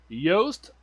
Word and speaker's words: Yoast: butchers his name and i continually have to type into chat yoast like toast so anyhow yeah yes